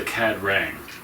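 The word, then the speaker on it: Ka-Rang: Well, they they might know the They're called the Cad Rang.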